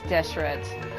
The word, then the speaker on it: Deshret: I am impressed that I've been saying it right the entire time, because it does look like it's Deshret.